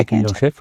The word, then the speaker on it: écuyer en chef: So when you then went back here to become the écuyer en chef, sorry, how do you say it in French? Yeah, écuyer en chef, yes.